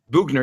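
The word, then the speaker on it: Boughner: Buffalo hired Phil Housley, and Florida hired Bob Bauner. I don't even know how his name is pronounced. Bugner, yeah, because he was like in NHL '94 as a player, right?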